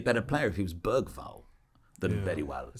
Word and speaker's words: Bergvall: player if he was Bergvall. Very well. It sounds a bit more robust. I think Bergvall wouldn't have gotten injured. The hard G in the middle just sounds a bit more.